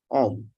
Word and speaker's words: Oehm: And the other side, Erik Oehm. Right, Eric? Did I pronounce it right?